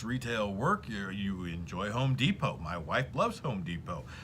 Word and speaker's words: Depot: It's Home Depot. The T is silent in Depot.